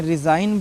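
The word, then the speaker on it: resign: बोलना है ना डिगन नहीं बोलना है इसमें रिजाइन बोलना है जी साइलेंट है ठीक हैगन नहीं बोलना है रिजाइन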